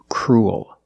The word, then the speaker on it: cruel: a dark L Cru it sounds like pool and cool you have the long ooh sound followed by the dark l pool cool and this word is cruel it's the opposite of